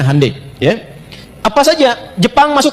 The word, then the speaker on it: Hyundai: Ya, ya Hyundai saya tahu bahasanya dibacanya Hande, ya.